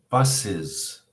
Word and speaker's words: buses: When you add es to a word, it is never pronounced s. It's never pronounced how it looks. It's always pronounced as if it was the letters I-Z. Is. Bus, buses. Wish, wishes. Box, boxes. Okay, so it's one of those beautiful things about the English language that frustrates us so much. It's never pronounced es, as. It's always pronounced is. Buses and boxes.